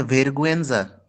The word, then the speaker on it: vergüenza: वेरगुएंजा spelling is vergüenza, जी वैसे होना चाहिए जी यू होता है गे, बट हम इसको यहाँ गुएंजा बोलेंगे बिकॉज यू के ऊपर umlauts लगे हैं जो जर्मन से आते हैं, तो vergüenza।